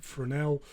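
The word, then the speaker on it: Fresnel: as a fresnal uh but it's a French word so you pronounce it as Fel uh you can pronounce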